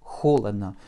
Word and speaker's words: холодно: Et un bel accent sur la première syllabe, ce qui rend nos deux derniers O comme des petits A.